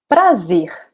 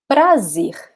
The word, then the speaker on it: prazer: Prazer. Prazer. Okay? So the first syllable can be tricky. So it's important to practice this R, which is right in the edge of your tongue. So pra, pra, pra.